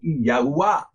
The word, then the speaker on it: Yahuwah: It is the pathway from this life through the Dalet, this Dalet in Yahudah, to Yahuwah, which is its correct pronunciation.